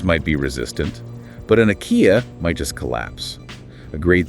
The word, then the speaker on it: akiya: Those are the abandoned homes pronounced IKEA, or older traditional houses.